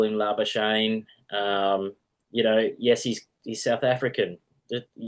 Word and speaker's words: Labuschagne: I don't know why they still call him Labuschagne. Yes, he's South African. Just say his name right, Labuschagne.